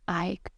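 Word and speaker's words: Eik: the name of a which is pronounced Ike and it's dutch for Oak when before his neighbors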